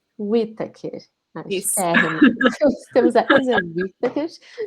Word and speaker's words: Whitaker: nossa convidada é a Isa, como que se pronuncia teu sobrenome? É Whittaker. Whittaker.